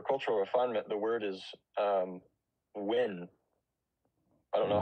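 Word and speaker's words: 文: So for cultural refinement, the word is win. I don't know how it's correctly pronounced. Talking about? I'm sorry, can you do it again? In pinyin, it's spelled W-E-N. So Wen.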